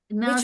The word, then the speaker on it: nurse: Nurse, Which one? N-U-R-S-E, nurse. Nurse. Nurse is not final blending. Okay. Because here E is silent.